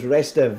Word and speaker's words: Restev: We do have somebody filling in today, and it's Restev, I believe is how it's pronounced. Was that correct, Andy? Was it Restev? Yeah, it might have a couple of E's on the end of it, but he asked me to pronounce him as Restev.